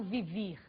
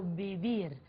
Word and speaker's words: vivir: vros vras vias vi você deve estar estranhando a pronúncia do V em português V em espanhol V tem o som de muito próximo a b do português portanto eu não falo vivir eu falo viir ok Vamos para o